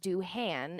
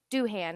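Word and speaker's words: Doohan: we started recording of how you would pronounce that doin is the actor's last name but i think they pronounce it do han in this um dubbed version so duhan is what we're going to go with um but yes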